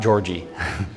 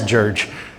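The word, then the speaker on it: György: RG y it's not Georgie it's George um g y is pronounced like a J in Hungarian okay so George lukach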